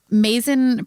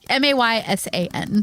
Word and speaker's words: Maysan: Oh, Paul's listening to this going, that is not how you pronounce that. No, it's not how you pronounce it. I'm so sorry, Paul. Probably Mason. Mason? Okay. Yeah. Maysan.